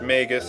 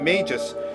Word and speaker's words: Magus: By the way, his name is pronounced Magus. I just found out recently. Someone gave me a pretty good explanation as to why. So, I always thought Magus was pronounced ma ma magis, like magi.